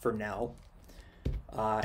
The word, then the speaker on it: Fresnel: it's spelt like this it's spelt like that but it's actually pronounced for now and this effect is